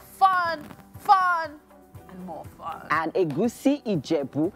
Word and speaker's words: egusi: Egusi ijebu. Egusi is fine because of non-Yorubas, but if you want to pronounce the soup the way it is, as a Yoruba person, you have to say egusi.